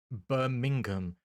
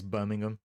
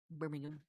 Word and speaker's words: Birmingham: It's like there's a there's a town here called Burmingham, but the way I say it is Birmingham where it doesn't sound like I'm saying the H anymore. Birmingham.